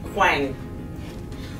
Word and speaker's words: Huang: All the A and G has the same pronunciation. Like Ang. Yang. Huang.